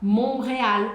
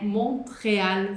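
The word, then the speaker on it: Montréal: a gente encontra aqui, esse T é mudo. É por isso que a gente fala Monreal e não monre Montreal.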